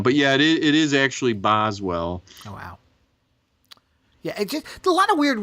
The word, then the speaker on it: Boswell: this episode yeah the buzz well to his Johnson I couldn't find any its Boswell oh that's why but it's pronounced strangely in this and it does sound like Buzz well but it's Boswell this is funny I'm